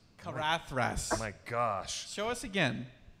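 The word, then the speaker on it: Caradhras: Caradris? Possibly. That's not how you pronounce Carathras. Carathras.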